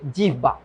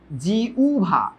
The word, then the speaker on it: জিহ্বা: জিহ্বা, জিহ্বা, জিহবা না, এটার উচ্চারণ হচ্ছে জিউভা, জিউ, এই যে জিউ, তারপর হচ্ছে ভা।